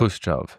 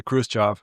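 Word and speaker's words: Khrushchev: Nikita is like the real Russian way to say it is like that. Krushchov. So normally in American English we say Krushchev. Krushchev.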